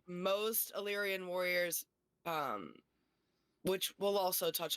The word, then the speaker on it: Illyrian: Being Illyrian, is that how you say it? Illyrian? Yeah. Yes, Illyrian, and they each have, what is it?